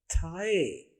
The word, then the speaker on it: thigh: थाई में पहली आवाज तो T और H से बनने वाली आवाज जो असल में TH और A जैसी आवाज है, THA असल में था। उर्दू में देखिए थे अलिफ था। और दूसरी आवाज है IGH से बनने वाली आवाज, ये बनेगी आई की आवाज।